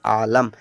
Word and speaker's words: Aalam: Next है AALAM, पढ़ेंगे आलम। Double A से तो होता है बच्चा बड़ा आ, क्या बड़ा आ। एल से ला होता है ए साइलेंट, एम से माँ, हमने यहाँ पर आलम लिखा बच्चा।